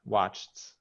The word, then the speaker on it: watched: Don't pronounce the E on the ED. It's a T Just sound. Asked, watched. asked. Uh-huh. Watched. Right, right. Oh, in watched is a T sound. The ED has a T sound or D sound.